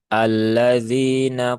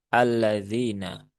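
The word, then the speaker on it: الذين: atau idgham syamsi maka hamzah wasalnya dibaca dengan fathah maka ini terbaca dengan laf ee dengan harakat fathah maka kita baca dengan a ya alladzina begitu ya alladzina dan perlu dipahami ya.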